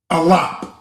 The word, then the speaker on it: Aleph: And instead of the modern, being pronounced Aleph, Aleph. This is pronounced Alap in the Paleo Hebrew.